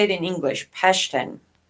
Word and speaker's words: Pashtun: Pashtun. Well, Pashtuyan, but Pashtun, I think, is how you say it in English.